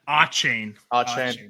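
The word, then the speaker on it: Achane: Is it Akane? Is that how you pronounce it? Yeah, Achain.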